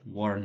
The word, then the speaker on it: warn: Warn es advertir, pronunciado así, warn, como si fuera una o. Warn.